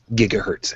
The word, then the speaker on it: gigahertz: is 1.42 gigahertz actually technically it's 1.42 458 gigahertz and yes it's properly pronounced gigahertz now is that important yeah actually